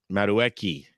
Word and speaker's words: Madueke: Madueke.